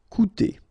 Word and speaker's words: coûter: you've got this accent circumflex on the top of U, it doesn't change the pronunciation, so it doesn't change this combination of two vowels here, so it will be OU, okay? Coûter.